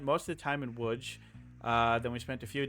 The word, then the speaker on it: Łódź: No, Lodz? Okay. Well, that's not how it's pronounced. Oh. It's pronounced Łódź. Łódź.